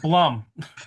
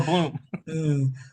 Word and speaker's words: Blum: It's pronounced Blum or Bloom.